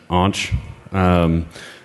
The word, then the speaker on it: aunch: You'll hear people refer to me as onk, aunch, anch. I pronounce it aunch. Technically, it's a form of onk, but I'm aunch, and you guys are